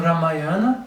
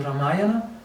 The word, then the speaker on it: Ramayana: Olha, na verdade você vai encontrar algo no Ramayana, né? Ou no Ramayana, que é a pronúncia que eles falam na Índia, né?